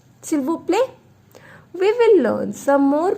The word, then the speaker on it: s'il vous plaît: situation, we will use s'il vous plaît. I have not pronounced it vous. I have told you last consonant will never be pronounced. This is s'il vous plaît. S'il vous plaît.